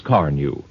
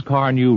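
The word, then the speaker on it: Carnu: The finish won't break down if you care for it with a good cleaner and polish like Johnson's Car New.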